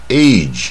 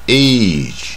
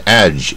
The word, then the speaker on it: age: 然后这个年纪呢，年龄呢 age，它就完全不卷舌 age、啊、你不要念是 age age，比如说